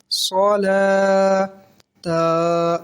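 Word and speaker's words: صلاة: दो जबर तन सतन अब यहां पे वाव लिखा होता है तो ये कंफ्यूजन होती है कि क्या वाव को पढ़ा जाएगा हिज्जे में या रवा में तो ना हिज्जे में ना रवा में वाव को नहीं पढ़ा जाएगा ठीक है ना सलात में ना जकात में ऐसे आपने जकातनका भी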